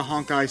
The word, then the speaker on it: Honkai: Okay, so I thought you meant like honk, and I. Well, that's how I pronounced it, because I thought it was funnier. It does kind of look like it sounds that way. Yeah. Yeah, it's Honkai. It's supposed to be Honkai, but Honkai, yeah.